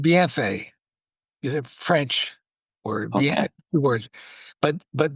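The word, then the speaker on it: Bienfait: It's called BFA. The French word. But but the the the people in Saskatchewan, they just always called it Bean Fate. They couldn't pronounce the French.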